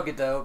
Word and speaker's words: Gadot: It is Gadot. It is Gadot. It is Gadot. Yeah. I heard someone say Gadot one time, so I'm thinking. Yeah, that's what I'm saying. I saw Gadot because it's like she's Gadot.